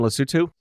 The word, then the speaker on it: Lesotho: Is that the correct pronunciation, Lesotho?